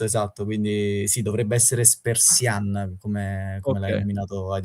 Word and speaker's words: Spertsyan: Diciamo che allora ho sentito ieri un'intervista, dovrebbe essere tipo Spersian, quindi Ok, con l'accento comunque sulla parte finale, un po' come tutti gli armeni. Avevo trovato anche qualcun altro che l'aveva chiamato Spersian, ok.